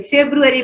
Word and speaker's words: February: Realise करे, अभी तक तो हम ऐसे बोल रहे थे, जनवरी बोल रहे थे, फरवरी बोल रहे थे, लेकिन अब आपको पता चला ना, जनवरी नहीं जनवरी बोलते हैं, फेब्रुअरी बोलते हैं।